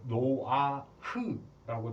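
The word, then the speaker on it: נֹחַ: 히브리어로 노아의 뜻이 발음은 이제 노아흐라고 되어 있는데요. 노아흐 이렇게 되는데 이 뜻이 뭐냐면 참 평안 안식이라는 뜻입니다.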